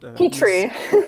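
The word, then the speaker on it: Petiot: It's Petrie.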